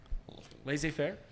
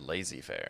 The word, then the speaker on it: laissez-faire: Laissez-faire? Laissez-faire? Well, you got it right that time. Did I pronounce it wrong the first time?